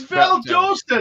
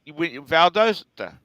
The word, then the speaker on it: Valdosta: it's Lancaster South Carolina and Lancaster Pennsylvania it's Valdosta it's right at 75. it's right over the Border okay now say it with your southern accent no it's right Valdosta it's Valdosta now you can't even say it